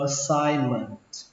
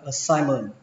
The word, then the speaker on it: assignment: Đọc là assignment. Assignment. Assignment. Chúng ta không cần âm T cuối cũng được, đọc là assignment cũng được.